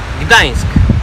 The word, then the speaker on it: Gdańsk: Y bueno, Lucas, ¿puedes pronunciar por favor cómo se llama, cómo se dice la ciudad? Gdańsk.